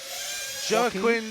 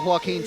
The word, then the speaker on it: Joaquin: Not queen, keen. Joaquin. Like you're keen for something.